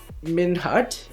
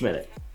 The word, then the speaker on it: Minute: And they say, are you Minhut or Minhoot? It's Minute.